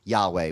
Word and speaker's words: Yahweh: So Jehovah is this old way of pronouncing. It's the English way of pronouncing Yahweh, which is like these